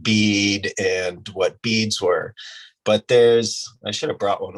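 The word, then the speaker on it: bi: And in ancient China, long after these things existed and they still created them, somebody finally named them a bee, it's pronounced B, but it's spelled B-I.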